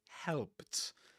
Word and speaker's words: helped: from some flappy books instead of saying Harry helped me because of the you know the ed pronunciation in helped helped. But the thing is that what usually happens in connected speech is that if if you've got a word ending in a consonant like P and if it's in